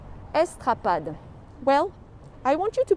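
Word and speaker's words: Estrapade: see a sign I'll show it to you estrad is spelled e s t r a p a d e estad well I want you to picture this place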